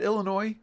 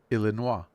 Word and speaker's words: Illinois: We'll now call it illinoa because there's no s. No, I'm kidding. It's Illinois. We know that.